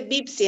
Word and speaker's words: Pepsi: a dejar mentir que dice Pepsi en árabe. ¿Sabe algo? Dice Bipsi en realidad. Ah, Dipsi. Porque ellos no pronuncian la P.